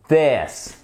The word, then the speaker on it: this: Si vous faites vibrer les cordes vocales, c'est un hard th. OK ? Par exemple, this comment vous savez si vous faites vibrer les cordes vocales ?